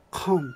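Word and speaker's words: không: で、ノーはコンと言いますね。ハとカの間ぐらいの発音ですね。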